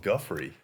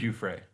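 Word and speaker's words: Giuffre: wrong forever then yeah I was always gone with Guthrie it's you Frey oh man God Guthrie's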